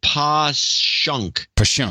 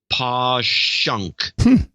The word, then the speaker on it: Passyunk: the wall and then Passyunk is pawn push em PA SS y u NK is posh UNK and by the way